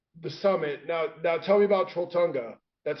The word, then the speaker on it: Trolltunga: Now tell me about Trolltunga.